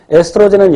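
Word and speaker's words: estrogen: 난소에서 분비되는 에스트로겐과 미국놈들은 에스트로젠이라고 발음하겠죠. 그리고 프로게스테론이 분비되는데 에스트로젠은 여성의 2차 성징을 발현시키고 그 다음에 프로게스테론은 배란을 억제하고 이런 것들 자세한 것은 심화반에서 다루게 됩니다.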